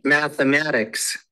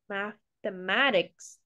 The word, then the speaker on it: mathematics: to be pronounced like mathematics mathematics okay math math mathematics remember it's got the th sound mathematics okay mathematics all right